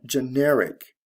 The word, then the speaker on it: generic: We have general and generic. Now, both general and generic are adjectives in this case. And the stress shifts from the first to the second syllable.